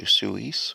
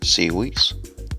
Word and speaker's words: SIUES: Before starting the video, I'd like to say thanks to SIUES for sending me the free product to test.